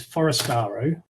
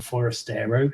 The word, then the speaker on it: Forastero: Okay, well, there's the sort of other two main types are what are known as Forastero, or Forastero, depending on how you pronounce it, and Trinitario.